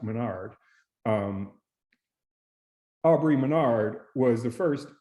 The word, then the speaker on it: Maynard: And Aubrey Maynard was, and I'm saying Maynard, I think it's pronounced Menard.